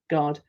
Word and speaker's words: guard: And you'd think it was spelt without that U, wouldn't you? Just G-R-A-D. G, good, G, A, D, guard. So you've got to remember it's got a U in it.